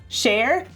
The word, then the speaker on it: Cher: And I know that Cher pronounces her name Cher, but she's also wrong.